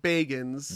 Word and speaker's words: Bagans: He pronounces it Bagans. Baggins. And the way I remember it is that, he is begging to see a ghost.